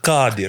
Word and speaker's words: Qadir: So it's Ka. it comes from the throat. Qadir. Qadir. Is it KH? Well, it's not even K, it's not even H.